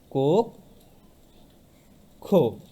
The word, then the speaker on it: কক্ষ: উচ্চারণ হবে কোক খো, উচ্চারণ হয়ে গেল কক্ষ।